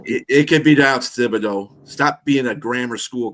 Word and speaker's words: Thibodeau: That it could be down to Thibodeau. Stop being a grammar school correct teacher. What? It's Thibodeau. We speak English here. We don't pronounce it like the French.